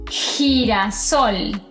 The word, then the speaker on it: girasol: Ahora, cuando a la G le siguen vocales como e o i, el sonido cambia y se pronuncia como una J. En este caso, estas dos palabras se pronunciarían gente y girasol.